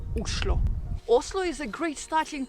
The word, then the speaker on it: Oslo: of Norway and actually in Norwegian the right way to pronounce the name of the capital is uslo Oslo is a great